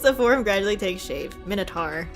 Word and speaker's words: Minotaur: Minotaur, not Tor.